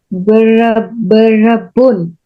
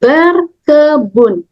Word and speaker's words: berkebun: yang ini gardening ber berebun berebun bukan ya Dian tapi ber ber kebun ber kebun coba lagi